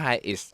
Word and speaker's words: Hiace: มี รถ ตู้ Toyota Hiace มัน อ่าน ว่า High is เป็น รถ ตู้ ไทย